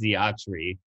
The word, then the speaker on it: Xiotri: So the way that I pronounce it, and the way that I feel it's supposed to be pronounced, is it is Xiotri, and yeah.